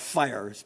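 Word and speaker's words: FHIR: um so hl7 I'm going to talk about fires pronounced fire I imagine you all have heard of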